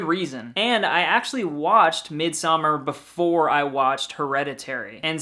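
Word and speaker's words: Midsommar: list it's ari asters midsummer and is that how it's pronounced i feel like every time i say it there's some country club horror fan that's like actually it's mid samar yes but anyway this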